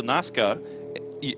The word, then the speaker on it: Nazca: Well, Alberto Nazca has a multiple race winner in Europe. NASCAR just with a silent R. The Nazca Nazar.